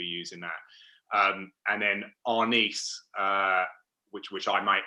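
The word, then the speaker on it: Arnis: dan would be using that um and then our nice uh which which i might may sometimes say is honest but apparently should be pronounced on ease is what's most widely used in the philippines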